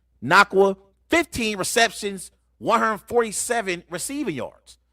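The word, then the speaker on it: Nacua: led them in receptions his name is hard to pronounce but it's nakwa 15 receptions 147 receiving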